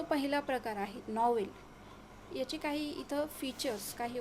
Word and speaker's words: novelle: पहिला जो प्रकार आहे त्यात जो नॉवेल आहे त्याचं स्पेलिंग थोडंसं वेगळं आहे, दोन्हीचं स्पेलिंग वेगळं आहे पण उच्चार अगदी सेम आहे, NOVELLE. ठीक आहे, उच्चार तोच आहे, नॉवेल.